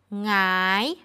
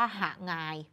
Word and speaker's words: หงาย: และ อ่าน ว่า หงาย ไม่ มี ใคร อ่าน ว่า หา งาน เพราะ ถ้า อ่าน ว่า หา งาน 1 มัน จะ มี 2 พยางค์ และ สอง มัน จะ ไม่ ใช่ อักษร นำ ค่ะ คราว นี้ ค่ะ